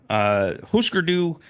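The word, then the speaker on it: Hüsker Dü: Hûsker Dû, pronounced that way because there's umlauts over the U's.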